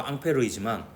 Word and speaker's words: 앙페르: 프랑스의 과학자 앙페르의 이름을 따서 암페어라고 합니다. 앙페르는 전류주의 자기장을 이제 연구했던 과학자이고요. 프랑스 이름으로 앙페르이지만 미국이 더 힘이 세서 미국식 발음으로 암페어라고 있습니다.